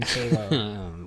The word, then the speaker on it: Calow: So it was actually CALOW on that. So Calow. Wow. Pronounced Calow, CALW.